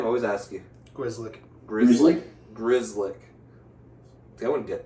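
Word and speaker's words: Grzelcyk: Grizzlick.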